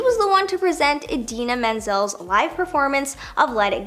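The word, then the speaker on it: Idina Menzel: the one to present Adena Menzel's live performance of Let It Go now instead of saying her name he completely butchered it and called her Adele deine which is nowhere close to being right all he had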